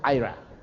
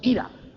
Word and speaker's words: Ira: Se pronuncia Ira, pero nosotros le decíamos Ira.